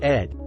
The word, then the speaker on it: id: the human mind Freud the ID pronounced Ed the ego and the